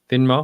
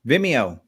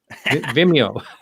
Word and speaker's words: Vimeo: called veni then me how do you say that no yes vinmo no not venmo vimeo vimeo program okay yeah so you